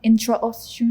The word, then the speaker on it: intraosseous: Intraosseous.